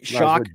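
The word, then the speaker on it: Shough: Tyler Shock is the pronunciation we're talking backstage. I've been calling Tyler Show for the last three years, I think.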